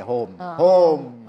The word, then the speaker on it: Hoom: Tapi kalau kita bikin dokter ho e eh e home yang bahasa Inggris orang bacanya dokter home. Nah, jadi enggak nyambung kan. Nah, gimana supaya orang kita bacanya dokter home. Nah, ya ini home gitu.